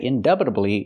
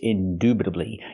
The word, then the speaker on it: indubitably: this one indubitably again we don't say indubitably it's indubitably you the long oo sound like Moon and soon indubitably it means without